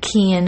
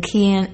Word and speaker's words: Cian: the summer months they are using hashtag bring keon home and hashtag fine can and kian is spelled c-i-a-n thanks so much